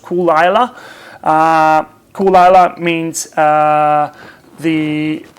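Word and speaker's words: Caol Ila: got Kara Lila well in Australia we say cavalier most people say Carla Lila actually pronounced cool Lila cool Allah means the it's basically the name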